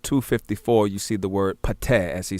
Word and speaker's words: Ptah: So now if we turn to Budge page 254, you see the word Pateh, as he say, P-T-E-H. Many spell it P-T-A-H.